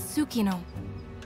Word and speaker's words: Tsukino: And the bonds between monsters and riders are just like your bond with Tsukino. It confuses me that the T is silent in that. It's like pterodactyl.